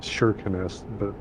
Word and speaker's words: Kirkenes: Yeah, I got to do that a few years ago up in Kirkenes. It's actually pronounced Shirkenes, but Kirkenes, the famous place in TMP is they've got a snow hotel up there.